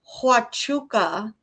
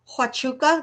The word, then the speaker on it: Huachuca: Fort Huachuca first came up in Candace's pod, oh, ooh, I should have screenshotted it.